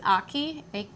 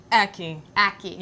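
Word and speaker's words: ackee: huh I have to try me some it's Aki Aki how how do you spell that a c k e e Aki okay got it all right I'm going to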